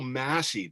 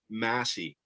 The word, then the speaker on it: Massey: Welcome to Michael Massey Day.